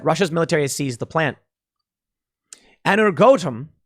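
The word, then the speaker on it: Energoatom: military seized the plan energotum is how you pronounce it ukraine's nuclear power operator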